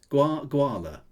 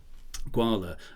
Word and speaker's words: Gwahlur: doesn't look Welsh um should we go for gwala guala as as sort of rhymes with koala will I do let's